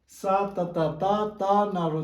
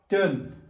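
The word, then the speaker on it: སྟོན: अब लद्दाखीहरूले चाहिँ कसरी उच्चारण गर्छ भन्दाखेरि सा ततक त ना यसलाई पनि उच्चारण गरेर चाहिँ स्तन्जिन स्तन स्तन स्तन स्तन उनीहरूले यसरी उच्चारण गर्छ र उनीहरूको उच्चारण गर्ने तरिका चाहिँ गलत हो भनेर भन्नु सक्दैन।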